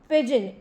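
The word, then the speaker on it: pidgin: पेडगॉजिकल term की है पिजन न ज उडन वाला पिजन हो व नहीं हैगा य पिजन न पिड गन नहीं बोलना किसे ने डी साइलेंट है विच तो पिजन पिजन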